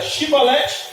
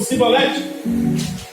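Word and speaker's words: Shibboleth: Lá em Jefité era Shibolete ou Sibolete? Aquele que não era da mesma família, aquele que não pertencia ao mesmo rei, aquele que não era aliado, não conseguia pronunciar o SH.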